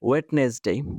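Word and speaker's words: Wednesday: যেমন you here ওয়েডনেসডে, আপনি লিখলেন কি ওয়েডনেসডে, কারেক্ট কি ওয়েডনেসডে, কারণ হচ্ছে ওয়েডনেসডে যেটা, এটার প্রোনাউন্সিয়েশনটাই হচ্ছে ওয়েডনেসডে, কিন্তু ডিটা কি হবে, সাইলেন্ট থাকবে, ওয়েডনেসডে।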